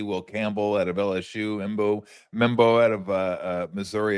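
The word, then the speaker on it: Armand Membou: Will Campbell out of LSU, Embo Mebo out of uh uh Missouri, if I'm pronouncing it correctly.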